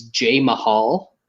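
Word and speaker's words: Jamahal: off um he's actually if you you pronounce his name properly it's j mahal because he's named after the first indian dots not feathers uh professional wrestling world wrestling entertainment world champion jinder mahal yeah he's named after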